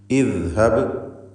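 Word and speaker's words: اذهب: ഇദ്ഹബ് എന്ന് കസ്ർ കൊടുത്ത് ഉച്ചരിക്കുക.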